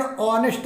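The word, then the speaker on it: honest: यहाँ पर बच्चों ही इज ए ऑनेस्ट मैन, ही इज एन ऑनेस्ट मैन, बच्चों यहाँ पर एच साइलेंट है, ओ का उच्चारण किया जाता है, यहाँ पर एन आएगा, इसलिए फोर्थ का बी ऑप्शन सही होगा।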